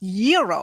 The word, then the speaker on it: gyro: Gyros I order the gyro Supreme suddenly the lady behind me chimes in it's pronounced Euro then the fella behind her says it's a gyro I turn my back